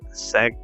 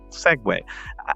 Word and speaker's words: segue: ashunera who said this right here they said seg uh I mean segue I don't really know what they meant when